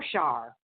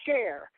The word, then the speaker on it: Share: be here one time you pronounce my name share and that's what I do with my work it's a share oh sorry okay I